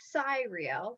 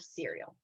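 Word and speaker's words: Cyrielle: spelled there as c-y-r-i-e-l-l-e cheyenne wanted to pronounce it cyril because there's a c y and i wanted to pronounce it cereal and i immediately thought of cereal like the type and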